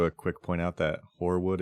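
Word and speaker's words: Hoarwood: quick point out that horwood is spelled h o a r WOD D just to be clear yes it's like hor Frost yes I don't I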